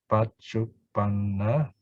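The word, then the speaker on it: paccuppanna: So Pachupanna is present, which has got the most syllables. Pachupanna, 4 syllables.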